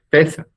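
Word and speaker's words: Pésaj: Pesá, me parece que es la pronunciación, Pesa, es la pronunciación, entonces eso es la Pascua.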